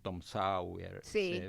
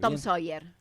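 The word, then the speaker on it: Tom Sawyer: Eh, eh Mark Twain, el famoso escritor estadounidense, autor de Tom Sauer. A ver, ayúdame a pronunciarlo bien. Tom Soyer.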